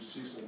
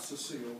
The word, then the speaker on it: Cecil: is a woman named Cecil Dawkins. It's interesting how many people women in the South had names that sound like they should be masculine. It's not Cecile, it's spelled C-E-C-I-L, Dawkins.